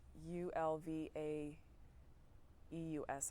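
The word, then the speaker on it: Björn Ulvaeus: me say it again Bjorn that may not be you know a perfectly Swedish pronunciation but it is ulva eus I believe with the little umlaut yes that's my best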